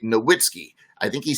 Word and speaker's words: Nowitzki: an American English pronunciation, like Dirk Nowitzki. We say Nowitzki. I think really he would say Nowitzki.